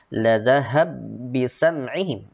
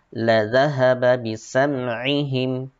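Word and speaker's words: لَذَهَبَ بِسَمْعِهِمْ: La dhahaba bisam'ihim, tidak dibaca la dhahab bisam'ihim, tetapi dibaca jelas la dhahaba bisam'ihim.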